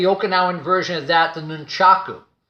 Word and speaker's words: nunchaku: version of that the nunchaku now some people say nunchuck because again the Japanese many times with the final vowel on a particular word they may not say it like we may say